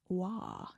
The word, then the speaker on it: Roy: There's a lot of Roy hockey players, and some of them are pronounced Wah.